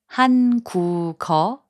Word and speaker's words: 한국어: When a syllable ends in a consonant and the next syllable begins with 이응, the final consonant sound moves to the next syllable.